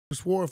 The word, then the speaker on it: sword: I don't sword fights, bro. I thought we were boys. No, we are. I like how you say sword fights and you overpronounce the W.